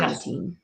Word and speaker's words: carnitine: Because Shara was asking how carnitine, and it's actually Carnitine. That's the spelling of it. Yeah, and so Carno, as in like carno, like carnivore, and then teen. So carnitine.